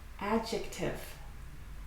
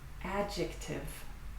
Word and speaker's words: adjective: Adjective. Adjective. Don't pronounce the D.